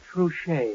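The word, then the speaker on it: Trushay: Trouche.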